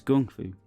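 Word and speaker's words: 功夫: on fightin were 14 kung fu was a term invented for Americans to make pronunciation easier the cracked Cantonese term is gongfu however writer James Lee wrote kung fu because Americans kept on mispronouncing it fine number 15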